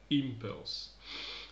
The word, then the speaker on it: impulse: c'est un nom commun, l'accent tonique sera sur la première syllabe, impulse.